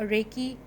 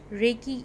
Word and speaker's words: Reiki: brief idea of what Reiki is Reiki as we all know is spelled as r e i k i it is made up of two syllables Rey and he re which is the